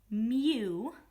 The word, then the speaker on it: mu: to say this is the greek letter mu m u that's how you say it and it means coefficient